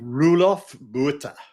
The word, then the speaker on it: Roelof Botha: How do you pronounce his name, Keith? Roelof Botha. Roelof Botha, who says venture is not an asset class.